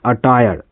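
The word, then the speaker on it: attire: और जो अगला जो वर्ड है कहता है ए टी टी आई आर ई इसको पढ़ते हैं अटायर।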